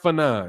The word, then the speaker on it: Fannon: you what it is it's fun on pronounced phenom that's how you pronounce it I know that ain't what it looks like when you read it but that's how it's pronounced okay first time you